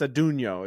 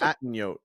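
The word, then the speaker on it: Atunyote: Yeah, it's Adunio is how it's pronounced. Okay. Because I think I called it Atten-yote, and they were like, "That's just not that's what that's the fanatic.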